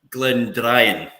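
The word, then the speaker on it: Glendrian: Did you say that right there? Because I said it wrong before. Glendarin. Glendrayan. I wrote it down wrong.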